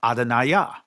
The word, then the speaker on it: Adonai: But like I said, in ancient Hebrew, it's pronounced Adonai.